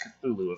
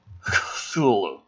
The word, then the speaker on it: Cthulhu: So, well, technically, Cthulhu isn't pronounced Cthulhu, if I'm not mistaken. That's true. It depends on who you ask, but I think they say it's supposed to be more guttural, like a Cthulhu.